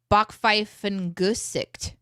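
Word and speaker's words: Backpfeifengesicht: German there's a slang word here's how to pronounce it Bach Fife and gooset a face made for punching is what that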